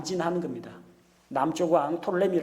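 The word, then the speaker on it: Ptolemy: 다음에 남쪽의 누가 있느냐 톨레미 장군이 부터 사람이 아닙니다 필자 묵음 입니다 톨레미 장군이 남쪽 지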